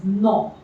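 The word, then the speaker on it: nom: So this is no. No means name. Again, the pronunciation will be same.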